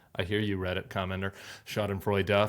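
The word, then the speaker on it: Schadenfreude: enjoy that level of shod and Frey du I hear you readit Commander shod and Frey du four syllables uh I'm going to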